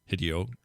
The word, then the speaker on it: Hideo: There is no short I sound in Japanese. The I is always pronounced with a long E sound.